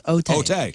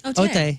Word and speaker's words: Otay: It's not okay. It's Otay. Otay. Yeah. Otay. You say it like Champlain.